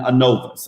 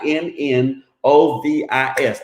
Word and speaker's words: Innovis: And so that is spelled INNOVIS. Now you pronunciate it the way you want to. I'm gonna call it Innovis, so you can say whatever you want to say.